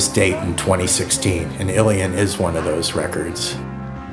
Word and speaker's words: Ilian: So I asked my father, I said, how do you say in Arabic? And she said Ilian or Ilian.